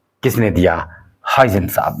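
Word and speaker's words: Huygens: हाइजन साहब ने। हम लोग हाइजन पढ़ेंगे, जो उधर का प्रोनाउंसिएशन है, जो नीदरलैंड्स का डच प्रोनाउंसिएशन है, वो थोड़ा सा अलग है, हॉक टाइप से पढ़ते हैं।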